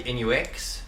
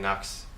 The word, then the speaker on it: Nux: start with the b2 the correct pronunciation is actually in UX but you know in the shop we kind of just make it sound more effective than just in Knox but yeah so if you hear someone saying Knox it's actually incorrect but whatever okay so